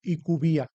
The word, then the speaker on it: IQVIA: Es fácil, somos IQVIA, es como lo llamamos nosotros.